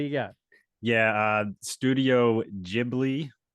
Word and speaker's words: Ghibli: got yeah uh Studio Ghibli I'm pretty sure it's pronounced that way Studio Ghibli g-h-i-b-l-i yeah they are